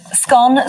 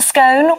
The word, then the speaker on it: scone: that 51% of Britains pronounce it to rhyme with gone whereas 42% pronounce it to rhyme with bone the former is a